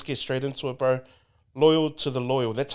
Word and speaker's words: Loyal to the Loyal: info but let's get straight into it bro loyal to the loyal that's how you say it Loy to Loy